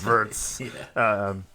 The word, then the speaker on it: Wirtz: Isak, 116 million on Wirtz. Yep. You're the German. Because in Germany, the W is pronounced as a V. Yeah, so okay, on Wirtz.